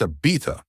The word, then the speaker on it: Ibiza: "It's pronounced Ibiza," he said, correcting her.